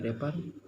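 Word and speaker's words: wrapper: all drawn on great sheet of रैपिंग पेपर, जो रैपिंग पेपर, रेपर जो होता है, रेपर डब्ल्यू साइलेंट है, रेपर पेपर जो ढकने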